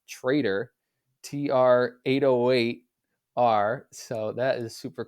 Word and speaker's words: tr808r: But yeah, this week he's back and even made the highlights this week with a new package, which is pronounced Trader, TR808R.